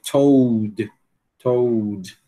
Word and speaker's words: told: Essa palavra difícil para nós porque é um u seguido de um lã, né? Então é sempre complicado para nós brasileiros. Told pena dizer o quê? Told. Told.